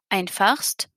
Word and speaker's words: einfachst: Je teste la prononciation. Einfachst. Pas de problème, on entend bien le S et le T du superlatif.